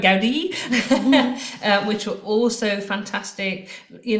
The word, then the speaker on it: Gaudi: Gaudi which were also fantastic you know and I